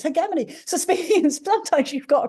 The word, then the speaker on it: hegemony: across one recently hegemony I thought it was hemony right I'd never heard anyone say he hegemony before I thought it was Hony apparently it's not it's hegemony sup sometimes you've got a pronunciation for a